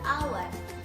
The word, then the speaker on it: hour: Karena dalam bahasa Inggris, hour itu dibacanya hour.